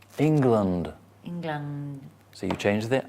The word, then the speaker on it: England: Like England, land, but land with a D, not a T. Land. But I come from England. England.